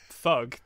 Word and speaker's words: THUG: yeah that makes sense is that how you're supposed to pronounce that Thug yeah Tony Hawk's Underground oh